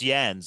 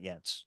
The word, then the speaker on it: Jens: You pronounce it like Mercedes-Benz. I just remember. You remember that, Jens? I remember. So it's Jens, everybody, not Jens.